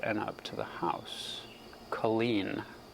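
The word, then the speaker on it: Culzean: Oh, pronounced Colleen.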